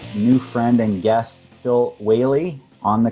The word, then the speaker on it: Whealy: friend and guest phil whaley on the call welcome phil hi thank you for having me now did i say your last name right you did whaley it is good i know uh i've